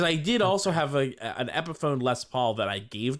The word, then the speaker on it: Epiphone: I've just never heard it pronounced. I just assumed it was Epiphany. No, it's Epiphone.